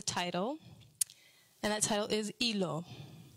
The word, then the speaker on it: Hilo: And we came up with the title, and that title is Hilo. H-I-L-O. Yes. Not hilo. Hilo. Hilo. The H is silent.